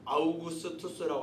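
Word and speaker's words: Augustus: 이 아구스도라는 말은 영어 발음으로 아우구스투스라고 하죠. 아우구스투스.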